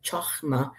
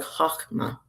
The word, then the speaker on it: Chokhmah: She is known as Chokhmah, with the H being said like Ch in the name Bach in Hebrew. So before I was pronouncing it Chokhmah, but I guess it's more like Chokhmah in Hebrew, and Sapientia in Latin.